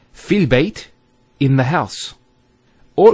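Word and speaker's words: فِي: So the first word is fi. So you notice there's the elongation, the long vowel.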